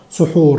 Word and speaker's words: سحور: الفجر عشان نستعد للصيام، وبنقولها زي ما هي كده بالظبط سحور، لان اصلها عربي وهي اتانجلزت. اوكي، يعني هم خدوها وجنسوها فبينطقوها زينا بالظبط سحور.